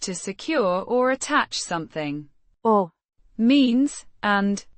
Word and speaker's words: och: Och Means and pronounced.